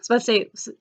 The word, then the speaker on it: Versailles: actually historical and mystery Versailles this is actually just two syllable but yeah it's also